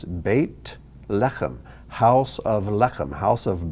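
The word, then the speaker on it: בית לחם: translated bait el or the word bethlehem it's actually bait lechem two words bait lecham house of lechem house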